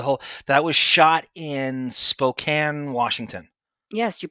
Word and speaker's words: Spokane: The whole that was shot in Spokane, Washington. yes, you pronounced it correct.